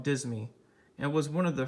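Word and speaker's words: disme: 100 years or less the word dime was originally spelled and pronounced differently the denomination was called dismi and was one of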